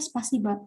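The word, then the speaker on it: спасибо: Bisa kayak spasibo kan, tapi kita bacanya spasiba.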